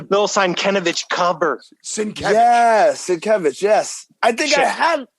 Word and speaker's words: Sienkiewicz: Yes, Sienkiewicz. Yes, I think I had. Am I mispronouncing it?